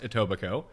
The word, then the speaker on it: Etobicoke: are looking for it and yes it is pronounced etobicoke uh americans even in that uh even that